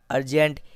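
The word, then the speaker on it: urgent: तो यू आर को अर पढ़ेंगे और जी ई एन टी को जेंट पढ़ेंगे। तो इस तरह से वर्ड हो जाएगा अर्जेंट, यानी अति आवश्यक।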